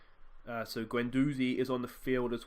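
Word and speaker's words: Guendouzi: the day that time apparently I don't say the D when I pronounce the name so Gwen doozy is on the field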